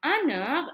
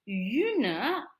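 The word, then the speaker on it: une: we say please notice it's not Anna it's Yuna and the uh does not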